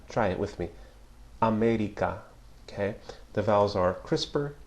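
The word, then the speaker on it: América: or contrast for example the English pronunciation of the word America America with a shorter crisper tensor vves in the Spanish America America try it with me America okay the vowels are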